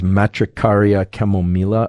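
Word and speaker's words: Matricaria chamomilla: chamomile I think the the proper pronunciation of this is matricaria chemomela although I always feel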